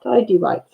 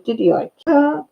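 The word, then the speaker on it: tighty-whities: I said, "I know now it's pronounced tidy whites." I said, "But I thought it was diddy white."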